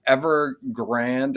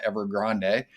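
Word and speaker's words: Evergrande: to read but um ever grand as i was told it was pronounced not ever grande uh as it should be announced but uh pronounced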